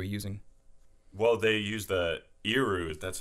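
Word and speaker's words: erhu: Well, they use the iru, that's how you pronounce it.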